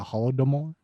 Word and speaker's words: Holodomor: widgets faster the holodomor and how do you pronounce that the holodomor domore yeah the holodomor was worth it ukrainians